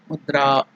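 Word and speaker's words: मुद्रा: There in the dra, a is elongated. That is dirgha. This is the swara. That is the vowels a. A. So mudra.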